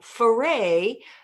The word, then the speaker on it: Ferray: Or as he did, pause, pause, pause, you know, paint in the sky, Ferray, pause, pause, pause, rhymes with hooray.